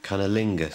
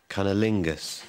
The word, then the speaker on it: cunnilingus: okay here we go we've been wrong along cunnilingus wait wait wait wait wait wait wait look